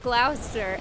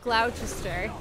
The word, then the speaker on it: Gloucester: clean King Lear and learning that Glouster is pronounced glausser and not gloutch Esther I am the I was saying gloutch Esther the whole time on our